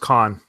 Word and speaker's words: Cannes: or how do you, I always say it wrong, Cannes Film Festival. I think Cannes. it's Con, just Con, Oh, Cannes Film Festival. without the S.